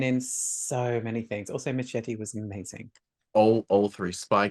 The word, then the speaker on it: Machete: the real name of Machete. Machete. Why am I saying Machete? Machete. Because that's how it's Um, actually supposed to be pronounced.